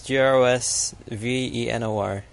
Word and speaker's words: Grosvenor: Yeah, you don't say the S. That place, Grosvenor. Yeah, I believe it's Grosvenor.